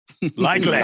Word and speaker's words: Likely: I'm gonna pronounce it Likely.